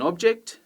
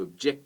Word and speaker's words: object: the second syllable you pick up an object noun but you object to something verb you give someone a